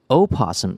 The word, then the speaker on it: opossum: technical or scientific context opossum is preferred opossum can can be pronounced with its first syllable either voiced or silent that's very complicated wow